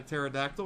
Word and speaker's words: pterodactyl: In fact, I think we got a pterodactyl, and I wasn't too enthused about it because nobody likes pterodactyls or pteranodons, whatever the hell they're called. The P is silent, okay?